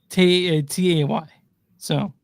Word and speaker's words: Tays: It's spelled Tay. So yeah, I want to make sure I'm getting this right.